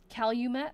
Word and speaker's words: Calumet: Calumet, thank you. Calumet. I know I pronounce Waterloo wrong too.